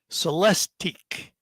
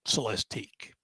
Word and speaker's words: Celestiq: of world's finest automaker it is the 2024 celesteak and that's spelled c-e-l-e-s-t-i -q so let's dig if you've